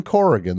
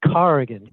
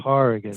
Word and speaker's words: Corrigan: new york it's kevin corrigan the actor the great actor kevin corrigan actually carrigan i let it slide a lot but i think people should know okay that the real pronunciation is car again fair enough i only